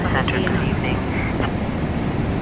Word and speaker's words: Buchanan: Locally, the city's name is pronounced by HANI.